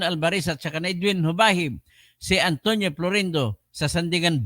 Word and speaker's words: Jubahib: del Norte gobernor Edwin hubahib hindi jubahib ang tawag diyan ang pagpronounce hubahib j b a h i b yan po ngayon